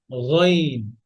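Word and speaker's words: غ: এক নম্বরে যদি গইন থেকে বলি, যে গ বলি, গ, বাংলা গ উচ্চারণ করি, গ, গি, এটা রং, টোটালি রং।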